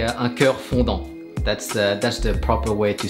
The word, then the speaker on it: un cœur fondant: I keep saying ganache texture, but actually, if you're French, we say un cœur fondant.